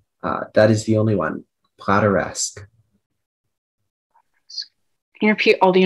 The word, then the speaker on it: plateresque: Are there any alternate pronunciations? That is the only one. Plateresque.